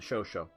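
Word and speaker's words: Chauchat: it the show show it's spelled like ch 80 or something like that but the u.s. called it the show show but maybe it's more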